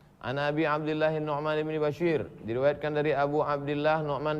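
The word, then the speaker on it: بشير: Abdillah Nu'man bin Basyir bifathil muwahadah Bagaimana cara membacanya kata dia bifathil muwahadah nah yang dimaksud bifathi baris atas yang dimaksud muwahadah titiknya satu karena bisa dibaca busyair bisa dibaca maka bifathi bifathi baris atas muwahadah Basyir Bukan busyair al-anshoriyu dia dari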